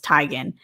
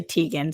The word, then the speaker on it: Teigen: who by the way says her last name is Tigan we all say Teigen so if I say Chrissy Teigen you guys are gonna say I'm pronouncing her last name wrong but she says it's Tigan so I guess it's Tigan but we'll call her